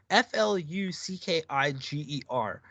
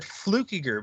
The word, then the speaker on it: Fluckiger: Yo, I interviewed this guy on the other show, and his last name is spelled F-L-U-C-K. Yeah, F-L-U-C-K-I-G-E-R.